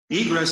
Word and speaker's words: egress: Egress is just 2 syllables.